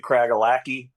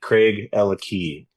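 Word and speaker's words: Craigellachie: A lot of people pronounce it Craaki. Yeah. But it's Craig and Ella have the key. Craig Ella Key.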